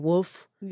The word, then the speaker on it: wolf: Which is why I say woof instead of wolf.